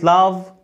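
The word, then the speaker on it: laugh: كف كف كف هنا الجي اتش منطها ف زي كلمه لاف لاف لاف يعني يضحك لاف لاف لاف يضحك مش وبتعمل هوموفون مع كلمه لاف اللي هي الحب تمام لاف يبقى البي الجي اتش منطقها ف زي كلمه لاف او كلمه كف الحرف اللي بعد كده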